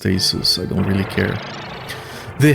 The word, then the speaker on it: Asus: a Asus I think it's supposed to be pronounced Asus I don't really care they have a thing